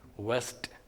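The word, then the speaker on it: vest: One is W-E-S-T, west, and the other one is V-E-S-T, west. These are two different sounds. They have two different pronunciations, but normally the Indian speakers don't make a distinction between them.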